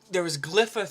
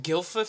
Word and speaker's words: Glypha: Anyway, there was Glypha 3, which I pronounced Gilfa 3 for like the longest time ever.